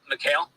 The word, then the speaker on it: Mikal: And then we get to Michael Bridges' volume over the last, Hey, Ben, how do you spell his name? What? How do you spell Mikal Bridges' name? Mikal. How do you say his name? Mikal.